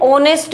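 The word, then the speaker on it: honest: नेक्स्ट है हमारा एन ऑनेस्ट मैन। वही है एच हमारा साइलेंट है। ओनेस्ट की साउंड आ रही है। ओ की साउंड आ रही है। ओ हमारा वोवेल है।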